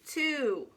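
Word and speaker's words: two: this is really weird t-w-o nope w is silent the o doesn't even sound like an o it sounds like a new ooh too and here's the weirdest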